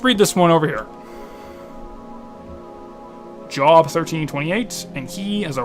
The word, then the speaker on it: Job: It's almost like it's someone cursing their job as a person who, Job. It's pronounced Job, you're right.